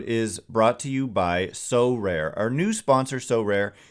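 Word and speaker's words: Sorare: cards and accessing Next Level competitions and rewards so rare recently partnered with MLB All-Stars Juan Soto and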